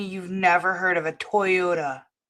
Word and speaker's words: Toyota: Lady, you can't convince me you've never heard of a Toyota. It can't possibly be spelled in a way that you would think it's pronounced Tyota.